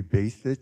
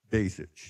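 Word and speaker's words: Basich: thank you yes uh my last name is pronounced in many different ways but it's actual actually basic be a it's b-a-s-i-c-h but b-a-y is kind of a good way to think about it if you're my brother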